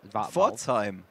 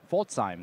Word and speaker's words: Pforzheim: yeah, so he attended the Swiss National Championships and a regional in, I can't pronounce that. It's just there's so many valves. Pforzheim. Pforzheim. Pforzheim.